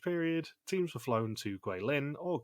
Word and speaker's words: Guilin: during the rest period teams were flown to guilin or goulim if you are Michelle yeah she took over Grace's role for mispronouncing names of cities that's what I have